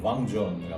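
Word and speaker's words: vin jaune: 그래서 여러분들이 잘 알고 계신 뱅존이라는 와인도 사실은 왕존이가 맞고요.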